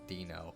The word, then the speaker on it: Dino: pet whose name is spelled Dino but it's pronounced Dino oh why I wouldn't have known wild animals